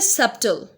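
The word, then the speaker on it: subtle: First है सबटल, B pronounce नहीं होगा।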